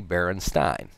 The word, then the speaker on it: Berenstain: e st aain Berenstain however since this german and german when you have to let two vowels the second one is the one that you sound out it's actually Berenstein and it turns out